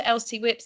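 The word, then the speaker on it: LCWIPs: adoption of the three are we saying this lcws or LC whips is it a way of pronounce ELC whips okay we're goingon to move on to LC whips the only comment I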